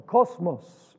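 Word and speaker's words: κόσμος: It's the word cosmos or cosmos, which would be the pronunciation in Greek.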